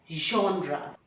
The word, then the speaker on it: genre: be pronounced as on and the last r is silent entrepreneur gendry jonah jonah no it is genre a particular group or category of style literature